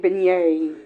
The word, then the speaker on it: beignet: How you get beignet? It's f It's a French word, baby. In French, that's what that sounds like.